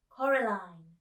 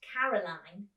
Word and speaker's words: Coraline: They kept saying Coraline, not Caroline. Not Caroline at all."